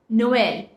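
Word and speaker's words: Noël: stressed more me mace another example is Noel which is Christmas Noel here the sound of e is stressed more because there is Noel so that's it for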